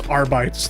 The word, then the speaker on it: Arbites: Oh, It's Arbites, thank you very much. I don't know how to pronounce Warhammer's bastardized language. The root word is bite. AR, bite.